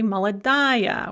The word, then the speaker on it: молодая: Feminine is aya, but because it's under stress, we're going to say молодая. We're going to actually pronounce the ending.